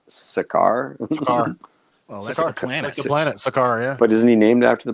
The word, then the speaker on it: Sakaar: And now we know how to pronounce it because I've always pronounced it Scar, but I guess it's Sakaar.